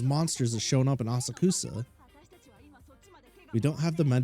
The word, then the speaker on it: Asakusa: The location is Asakusa. Head over. Asakusa? Oh, I've been saying it wrong. Asakasa?